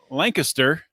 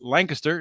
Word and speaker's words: Lancaster: the state over in Lancaster that's Lancaster not Lancaster Pennsylvania right it's the only one in the country mispronounced exactly exactly and uh where